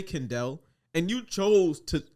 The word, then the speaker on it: Kendel: Because I tell people, I'm like, yo, my name's Kendel. And they're like, oh, Kendall? You just heard me say Kendel, and you chose to say You it chose wrong.